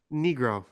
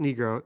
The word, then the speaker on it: Nigro: it was uh Daniel Nigro is how it's pronounced negro negro is pronounced negro D are you serious yeah